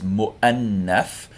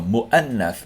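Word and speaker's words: مؤنث: The waw is not pronounced, it's just the kursi or chair for the hamza. So mu'annath means feminine, but grammatically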